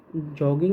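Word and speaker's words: Jogging: बेंगे तो योगन होगा बट जॉगिंग एक इंटरनेशनल वर्ड है जो इंटरनेशनल से इंटरनेशनल वर्ड से लिया गया है तो उसको हम जे ही साउंड करेंगे बट कुछ वर्ड्स ऐसे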